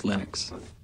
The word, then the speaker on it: Linux: pronounce my name but Linux is always Linux there you go Linux